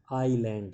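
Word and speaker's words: island: ग्रू माने उगे हुए थे, ऑन द आईलैंड, आईलैंड इसमें एस जो हो साइलेंट है, इसकी आवाज़ नहीं आती।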